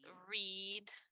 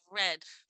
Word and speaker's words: read: en el presente, es read con una I larga, pero si es en el pasado, es read y y suena como el color rojo, red, pero en el papel son iguales.